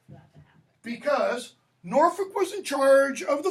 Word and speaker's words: Norfolk: Don't pronounce the L. Norfolk.